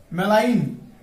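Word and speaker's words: malign: এরপর আমরা দেখব যে মেলাইন এম এ এল আই জি এন এখানে যেটা সাইলেন্ট মেলাইন অর্থ মারাত্মক অর্থ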